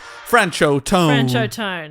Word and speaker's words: Franchot Tone: you say your name how to pronounce friendship time here we go francho francho tone that sounds good can